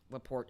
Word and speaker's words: Laporte: And Laporte is actually how you say his name.